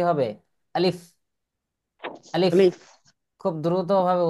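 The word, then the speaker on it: ألف: কি আলিফ বা এরকম পড়তাম কিন্তু আসলে সহি উচ্চারণ কি হবে আলিফ আলিফ আলিফ খুব দ্রুতভাবে উচ্চারণ করতে হয় আচ্ছা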